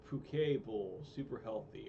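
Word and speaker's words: poke: It's pronounced Puke Bowl.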